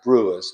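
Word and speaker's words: Biewer: Oh, so fast forward says a buer. It they're kind of like a Yorkie and it's pronounced brewers.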